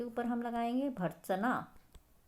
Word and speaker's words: भर्त्सना: भर्त्सना, भ के बाद र। तो र क्या है?